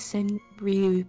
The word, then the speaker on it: senryu: Senryu is the correct pronunciation of that.